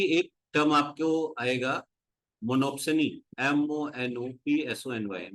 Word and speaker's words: monopsony: मोनोप्सनी में मोनो, जो सोनी है उसका मतलब हो गया, P साइलेंट होगा इसमें, बायर।